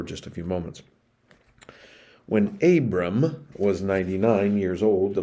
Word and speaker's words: Abram: initially in his stories he is known as abram abram and we're going to talk about that